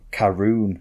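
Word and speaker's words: Caorunn: something on there in the fridge uh called karoon gym karoon gym yeah but it's spelt like c a or uh u double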